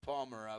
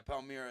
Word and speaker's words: Palmyra: way to pronounce it i said palmera but yeah palmyra is probably more correct palmyra pennsylvania and he